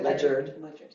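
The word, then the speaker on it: Ledyard: So the team went out and found Lechyard. Am I saying it right? Lechard. Ledger it says leard try to spell their mascot at the same time.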